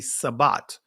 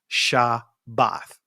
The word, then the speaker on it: Shabbat: I know uh from the Greek pronunciation of it many will say sabat or Shabbat or Sabbath. But the actual ancient pronunciation is shabbath.